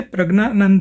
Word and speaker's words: प्रज्ञानंद: तो ये प्रज्ञानंद जो है ये डबल G हो गया, ज्ञ तो खैर होता ही है।